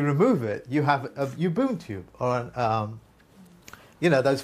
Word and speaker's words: Ubuntu: If you remove it, you have a Ubuntu, or an, you know, those free operating systems like Linux and stuff like that.